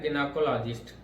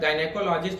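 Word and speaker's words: gynecologist: अब गायनेकोलॉजिस्ट भी इसको पढ़ सकते हैं, मतलब मेनली देखिए यही प्रोनाउंसिएशन है इसका, गिनेकोलॉजिस्ट या जिनकोलॉजिस्ट। अब चाहे इसको जी पढ़े चाहे जी पढ़े, मतलब चाहे इस हिसाब से पढ़े चाहे ये पढ़े, दोनों इसमें सही होता है। चाहे गायनेकोलॉजिस्ट बोले चाहे जिनेकोलॉजिस्ट बोले, ठीक है, दोनों प्रोनाउंसिएशन इसका सही होता है, ठीक है।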